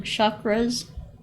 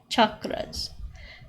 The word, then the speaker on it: chakras: people call call them chakras with an sh they're actually pronounced ch chakras and basically these are